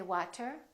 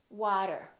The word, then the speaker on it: water: after me water water we don't say water we say water auto auto automatic we